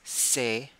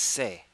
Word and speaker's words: c'est: Now, in this instance is not spelled E-T. It's actually spelled E-S-T. So that's se, which is C apostrophe E-S-T. It's pronounced se.